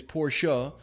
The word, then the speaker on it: Porsche: answer the way to say it is poor show but porsche is a lot easier and takes less effort than saying poor show so before you guys